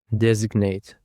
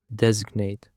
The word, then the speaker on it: designate: Designate. The stress is on the first syllable. Designate.